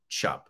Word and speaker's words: Tschupp: I would have said Tschupp or Tschupp, but I found a video of him speaking and he said Tschupp.